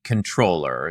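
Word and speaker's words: comptroller: Is it compatroller or controller? So, I try to keep everything under control, but I believe that the proper pronunciation is actually controller.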